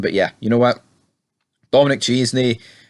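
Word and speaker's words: Dominic Chianese: Dominic Chesney, Dominic Chinese, is how you pronounce his name.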